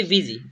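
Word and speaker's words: busy: एस वाई ठीक है इसको हम पढ़ेंगे विजी इसका उच्चारण क्या होगा विजी ये इजी था और इसे हम पढ़ते हैं विजी ठीक है तो विजी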